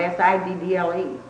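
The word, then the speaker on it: Siddall: spell it S-I-D-D-L-E, and you can kind of tell how the thing was pronounced the way they spelled. I see. That's why I say it's Siddle.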